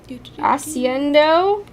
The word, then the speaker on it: Accendio: Accendio?